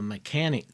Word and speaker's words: Mechanix: So what I use is the mechanic gloves. Now that's spelled MECHANIX. And they have all sorts of colors and brands.